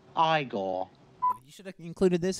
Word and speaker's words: Igor: hot eigor you know you must be eigor now it's pronounced igore you should have included